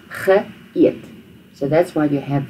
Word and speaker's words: geëet: So the G is the past tense part, the past tense prefix, and then eet is where you start the new sound. Ge eet.